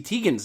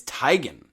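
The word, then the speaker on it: Teigen: Do you know that we've all been saying uh Chrissy Tegan's name wrong? No, it's Tyan.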